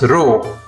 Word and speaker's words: ロ: The R-row sounds are Ra, Ri, Ru, Re, Ro. This is Ra. This is Ri. This is Ru. This is Re. And this is Ro.